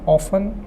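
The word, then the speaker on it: often: दोस्तों टी जो है साइलेंट है। इसका उच्चारण है ऑफन।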